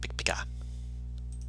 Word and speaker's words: Pikpika: Pikpika. Thank you. It sounds like Pikachu saying its own name. It does, but it's meant to be a clicking of the mandible sounds.